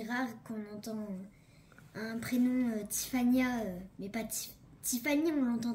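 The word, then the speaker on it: Tiffanya: Comment ça s'écrit, Tiffania? T-I-F-F-A-N-Y-A. Et elle y tient à son A. Parce qu'elle ne s'appelle pas comment? Tiffany.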